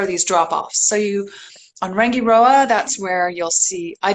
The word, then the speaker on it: Rangiroa: of Rangiroa and Fakarava, everyone's favorite island to pronounce. Fakarava. So it is Rangiroa and Fakarava.